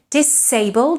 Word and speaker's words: disabled: Disabled is with S as well, so you can't say disappointed, disappear, or disabled.